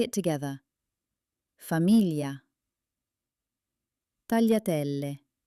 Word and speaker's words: tagliatelle: Tagliatelle.